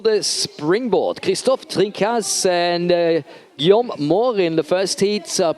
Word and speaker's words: Guillaume: And I tried everything to get those names right, but it's Guillaume Moore. Guillaume, not Guillaume.